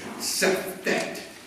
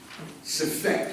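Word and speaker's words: Sefekht: Sefet. Sefet. It's pronounced, spelled S-E-F-E-K-H-T.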